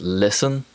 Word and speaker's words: listen: the t sound and there are many common words which contain the silent letter t such as listen and castle in american english the